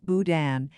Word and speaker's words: boudin: a local food for my area boudin is pronounced boudin it's in case pork or other meat seafood